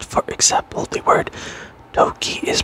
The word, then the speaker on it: toki: would still be acceptable stress falls on the first syllable of a word pronounce it a bit louder longer and higher pitched for example the word Toki is pronounced DOI and